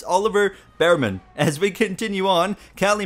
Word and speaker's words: Bearman: It's Oliver Bearman.